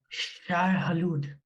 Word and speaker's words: Shai-Hulud: How do you pronounce the sandworm's name? Oh, I know this. I know this. It's their god. It's like, it's Shai-Hulud.